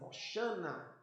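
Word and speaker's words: הושענא: Em hebraico o termo é difícil de pronunciar, mais ou menos assim, Hoshana, Yoshana. E eles gritavam: Hosana!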